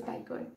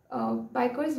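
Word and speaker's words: Bajka: I'm not sure if this is the correct pronunciation because her name is spelled B-A-J-K-A but apparently pronounced as Biker.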